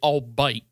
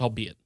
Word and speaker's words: albeit: They kept pronouncing it albite. And I kept getting angry and angry because they kept saying it. And I eventually was like, it's pronounced albeit.